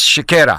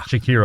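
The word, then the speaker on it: Siekiera: How do you pronounce their name? Well, it's Shakira. Shakira.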